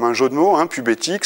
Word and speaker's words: PubéTic: jeun de mot hein pubéthique ça s'écrit pube TIC euh donc les titic